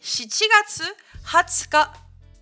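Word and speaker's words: 七月二十日: Alors, du coup, en effet, ici, ça va se prononcer Shichigatsu Hatsuka.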